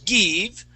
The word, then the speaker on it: give: First off, that first I, you would, in give, you had used a Spanish I, saying give up. Give? So instead of saying give, we want to use a short I and say give up.